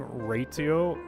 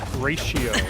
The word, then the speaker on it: Ratio: Raio, I I I know I'm saying it wrong. Oh, it's like ratio.